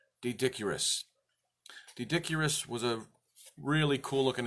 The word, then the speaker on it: Doedicurus: with a consensus and I'm going to pronounce it D dick URIs D dick URIs the word is spelled do e d I see you are us so it looks like doe dick URIs dodok URIs Duet Acuras